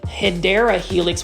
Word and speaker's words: Hedera helix: This is a Hydra Helix. Say it with me, Hydra Helix. Okay, I'm not going to be as obnoxious today about the Hedera Helix, which is the correct way to say English ivy.